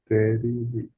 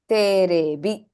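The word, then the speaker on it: テレビ: Teribi. Terebi.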